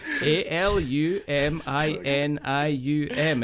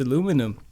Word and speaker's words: aluminium: n i u m it's aluminium you go oh that's aluminum and it's not there's no way there's no way even accidentally there too many syllables there I can't help it